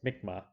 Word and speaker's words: Mi'kmaq: about a peak group of people called the mikma that's how this is pronounced mikma they are the indigenous people of the maritime